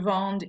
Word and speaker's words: vende: So now we have je vende, tu vends, il vend. These actually sound different than the present tense. The present tense ends with S, nothing, and they're pronounced vend. This one you pronounce the D, vend.